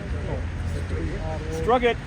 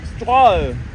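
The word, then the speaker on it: Strøget: Struck it. That's very wrong. Say after me. S-T-R-O-G-E-T. Say after me. Stroll.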